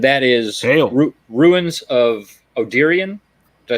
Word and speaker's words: Odyrion: got Hanzo and that is route ruins of Oh Tyrion did I say that right I did write it spell it Brett oh cool yeah like sister twister